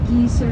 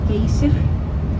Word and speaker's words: Geysir: Maybe you pronounce it Geysir or Geyser, but we pronounce it Geysir. Like happy and Geysir. That's how we pronounce it.